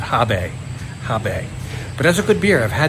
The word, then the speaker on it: HB: see many places, including HB, which if you say it the right way, I think the Germans pronounce that Habe.